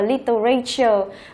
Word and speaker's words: literature: Từ này không đọc là literature mà chúng ta sẽ đọc là literature. Chú ý là chỉ đọc thành ba âm tiết thôi nhé, là literature, literature.